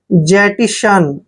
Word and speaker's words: jettison: देखिए जे को हम जय पढ़ते हैं, ए को ई को ए की मात्रा पढ़ते हैं, डबल टी का उच्चारण टे करते हैं, आई को ई की मात्रा पढ़ते हैं और SO को श पढ़ना है, एन को न पढ़ना है।